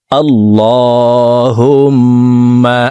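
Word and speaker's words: الله: সাইয়েদুল ইস্তেগফার মুখস্ত হয়ে যাবে এবং সহি শুদ্ধ উচ্চারণ হয়ে যাবে আল্লাহুম্মা আনতা রব্বি আল্লাহ এই লামকে ল বলে অর্থাৎ মোটা করে পড়তে হবে।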